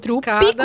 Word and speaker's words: Trupe E Cada: Chama Trupe E Cada, que é com E comercial. Trupe Trupicada, com mas P é mudo, trupe.